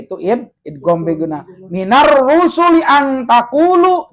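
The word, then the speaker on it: أَنْ تَقُولُوا: Minar rusuli ang taqulu, jangan dibaca an taqulu.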